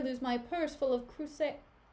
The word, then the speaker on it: cruzados: Desdemona, believe me, I had rather lose my purse full of crusados? Why is it spelled like tornadoes, but with crusade? Crusados. It's a Portuguese coin. Cruzado, yeah. Cruzados. What is she doing in Portugal, bro?